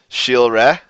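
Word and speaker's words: cilre: So, for example, as I had shown earlier, this word, which means learn, shilre, is pronounced like that.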